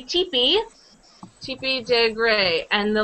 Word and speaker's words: Tippi: ever heard of her Tepe we say teepe but it's spell sped like this I wrote it's spelled like Tippy but you say Tippi Tippy de gray and